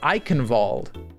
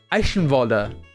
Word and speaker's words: Eichenwalde: Did you guys know that Eichenwald in fucking Overwatch is wrong, bro? It's not Eichenwald. It's not that, man. It's Eichenwalder. It's Eichenwalder, bro. That's how it's fucking pronounced, man.